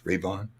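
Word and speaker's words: Reavon: Not like Darth Revan, it's Ravon.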